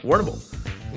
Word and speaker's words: Warrnambool: Yeah, Warrnambool. Warrnambool.